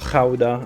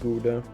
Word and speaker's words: Gouda: Gouda is, well, Gouda, I should say, as a Dutchman. Well, in English it's pronounced Gouda, but yeah, Gouda is amazing too.